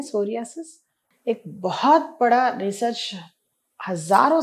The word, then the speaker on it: psoriasis: आज हम यूनानी मेडिसिन में एक ऐसे खास मर्ज के बारे में जानेंगे जिसका नाम सोरियासिस है। यूजुअली इंडियन प्रोनाउंसिएशन में सोरियासिस कहते हैं, बट एक्चुअली इसको सोरायासिस बोलते हैं।